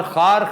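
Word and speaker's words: خوار: इसी तरह किया जाएगा खार कांटा है और खार खस्ता भी है वाओ इधर साइलेंट है चुनांचे ये खार बन गया लेकिन लिखने में जब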